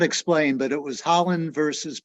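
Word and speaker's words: Haaland: not sure how to say this brackeen versus Holland that's correct the interior secretary um actually it's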